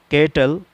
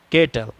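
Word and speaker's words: cattle: کوئی دشواری نہیں ہوگی۔ جیسے کیٹل اس کے معنی جانور، تو اب سی کے بعد اے آ رہا ہے، اس وجہ سے سی کا تلفظ یہاں پر کاف ہے، کیٹل جانور۔ کیج، کیج، کیج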